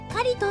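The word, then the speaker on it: 狩人: 愛するの愛、野原の野、カリウドと書いてカリトって読むんです。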